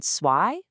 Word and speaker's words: zwei: That German Z, it's not the buzzing Z's sound we use in English. Nope, it's a really sharp ts sound. Think of the sound at the end of the word cats. Ts. You hear it in zwei for 2 and zehn for 10.